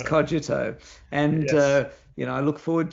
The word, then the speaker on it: Xogito: And importantly, people now also know how to pronounce Xogito as Cogito.